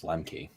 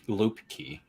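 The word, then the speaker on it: Luepke: think yeah yes but I don't think it's Lemke no it's lucky I think it's yeah it's a lucky key loop key is how you say that fall back one I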